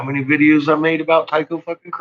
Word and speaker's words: Tycho: videos i made about taiko crater you know say it like that every time it's tyco crater